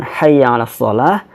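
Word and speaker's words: حي على الصلاة: harus kita perhatikan ya Yang pertama adalah haknya jadi pastikan ketika mengucapkan Hayya alassholah haknya juga Betul hack ya hai hahaha ditenggorokan tengah ya Ha hai ialah tapi Hayya Alal Falah gede hahaha nyolok boleh seperti itu yang kedua adalah haya-haya desa di ya Nya ditasydid sehingga tekan Ha iya kan khayala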